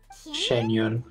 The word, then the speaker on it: Xianyun: Xianyun. So I pronounced it good, at least better than the mound.